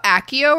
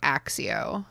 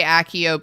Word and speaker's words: Accio: Yeah, before the films, I definitely pronounced this letter as if it were an X. Like, I did, like, Axio. Axio. But now I tend to say Accio because of the films.